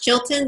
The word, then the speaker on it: Chilton: today and I think your last name is pronounced Chilton is it not yes that's absolutely right children my first name